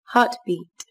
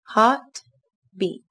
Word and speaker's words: heartbeat: Các bạn lưu ý, từ này có 2 âm tiết, trọng âm rơi vào âm tiết đầu tiên các bạn nhé. Từ này đồng thời có chứa 2 nguyên âm, đó là nguyên âm A dài sẽ đọc là A và Y dài sẽ đọc là I.